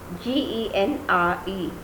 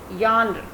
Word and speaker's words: genre: Similar is the case of the next word, G-E-N-R-E, that is yonder. G-E will be pronounced as the yonder, yonder, not genre. This will not be pronounced as genre, this will be pronounced as yonder.